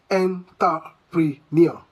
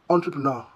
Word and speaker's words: entrepreneur: Do you say entrepreneur? Entrepreneur? No. The correct pronunciation should be entrepreneur. Entrepreneur. Entrepreneur. Well, due to the fact that the word is of a French descent, the French origin gives it a soft flowing pronunciation.